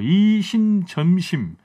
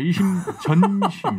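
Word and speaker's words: 이심전심: 이심점심 이걸 이제 바꿔가지고 이신 송심이다 이렇게 지금 주장을 하고 있어요. 점심이 아니고 전심. 네, 이심 전심.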